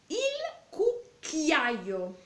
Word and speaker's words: cucchiaio: Cucchiaio. Cuidado, tiene que pronunciar la doble C.